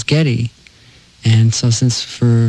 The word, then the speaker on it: Geddy: But when she pronounced it, everyone thought it was Geddy.